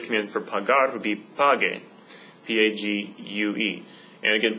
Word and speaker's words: pague: would be P-A-G-E, but that doesn't work because that would be pronounced paje in Spanish. So I want to maintain the g sound. So the usted command for pagar would be pague.